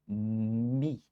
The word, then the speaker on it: me: que espanhol seria me, se dizimos em espanhol me, em português se escreve igual, pero se disse mi, pelo menos la maioria de los brasileiros. Hay alguns que dizem me, mi já, pero la maioria disse, ele me viu na rua.